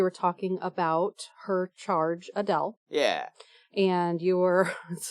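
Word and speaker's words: Adèle: It doesn't change the way it's pronounced, except that we omit the A at the very end. It's just Adele. Adele. Not Adela. Adele.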